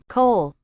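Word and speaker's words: kohl: in those days was Co how do you pronounce that co co co which is k o h l which was a black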